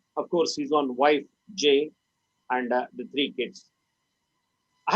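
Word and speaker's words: Jai: J, the pronunciation was J, like Jay.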